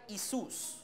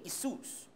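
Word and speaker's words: Ἰησοῦς: the Greek New Testament, it spells like I-E-S-U-O-S. So, it's like Isus, okay? So, that's how you're going to pronounce that name, Isus, okay?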